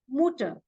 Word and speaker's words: Mutter: is is youu but in German it is U so it is mutter for mother then for sister